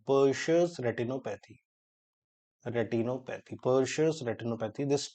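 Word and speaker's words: Purtscher: P Ur t s c h e r persus retinopathy retinopathy pous retinopathy this te is silent that is called as pous retinopathy this has been asked several time these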